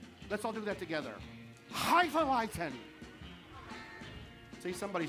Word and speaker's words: Hefeweizen: Hefeweizen.